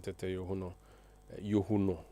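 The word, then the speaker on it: Christian Tetteh Yohuno: We are coming to you from our studios in Ara and uh you've heard the inspector general of police Christian Tetuno Yuno actually the proper pronunciation of the name speaking in Aquetia where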